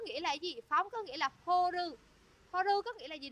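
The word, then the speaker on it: 放る: Phóng có nghĩa là horu. Horu có nghĩa là gì để các bạn nhớ trong sensei nha. Chữ phóng đứng một mình nó đi với chữ ru đọc là horu.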